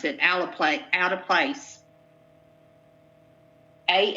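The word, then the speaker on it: alteplase: e believe it or not that's how you pronounce it ala play out of place a l t e p l a s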